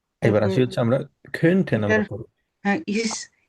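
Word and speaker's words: könnte: এবার তারপর আসি হচ্ছে আমরা খেনটেন এটার, আমরা করব। হ্যাঁ, ইস, ইস খন্টে, এটা কেমন করে ভাই উচ্চারণ করবো এটা একটু? এটা আমরা বলবো হচ্ছে খন্টে, জাস্ট উমলাউট যেভাবে আমরা উচ্চারণ করতাম, মনে আছে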